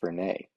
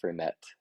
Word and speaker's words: Fernet: his face and says, I think it's pronounced Fernet. Um, yeah, apparently the bartender gave him a little bit of a blank look and said, do you mean Fernet?